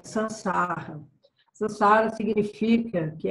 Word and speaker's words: sansar: And in that sansar, the sansar means sansar. If you want to pronounce it right, it's called S-A-N-S-A-R, sansar.